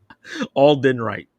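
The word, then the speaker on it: Alden Ehrenreich: Alden Wright.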